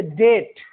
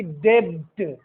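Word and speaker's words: debt: जैसे डेट, न कि डेब्ट, डेब्ट नहीं, डेट।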